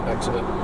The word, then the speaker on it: Exeter: Exeter. Exeter, yeah.